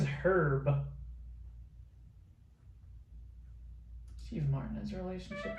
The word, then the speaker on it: Herb: How to pronounce Herb Alpert's name? Herb, without the H.